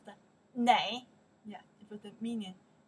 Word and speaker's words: 哪: When they ask location, this character we pronounce the na or na, both of them work, means where.